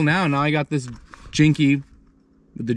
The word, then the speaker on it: Jinkey: sent me um so it's pronounced jinky so if you watch